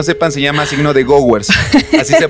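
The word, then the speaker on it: Gowers: los que no sepan se llama signo de goers así se pronuncia y es no es un signo que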